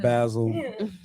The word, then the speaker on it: Basel: Well, in Switzerland they say Basel. It Basel. In Switzerland, where it's just from, Basel. Basel, yeah. So it is Art Basel. Yeah, like the Bass Museum.